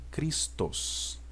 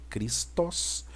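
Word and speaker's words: Χριστός: na aula passada que no grego vai ficar cristos né apesar de ter o Sigma aqui no final não significa que está no plural tá gente é assim mesmo tá aí no singular é cristos mas eu tô falando da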